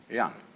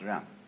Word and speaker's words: jen: In Confucius philosophy, the fundamental virtue of a human being is called yan, spelled Jen for reasons best known to Chinese scholars. I don't know what they are, but it's pronounced yan.